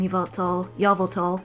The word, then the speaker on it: Yveltal: And yes, I'm calling Yveltal, because that's how MNJTV pronounces it, and I like that pronunciation better.